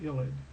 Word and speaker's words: ylid: It's called an ylid. It's pronounced ylid.